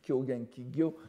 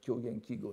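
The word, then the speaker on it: 狂言綺語: veut montrer que l'on est au courant, on prononce Kyogen Kigyo, mais la prononciation, je vous encourage à prononcer comme tout le monde, si j'ose dire, Kyogen Kigo, n'est-ce pas, les propos fous et les paroles spécieuses.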